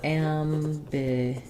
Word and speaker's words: ambiguity: a great word um we stress on the GU syllable um first vowel is the a like in cat um but just like in our um word angry the am it's might be a slightly um raised a because of the M